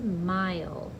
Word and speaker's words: mile: our last word is mile um i oh ooh it rhymes with file um how do we get that i sound o i consonant e silent e let's go back and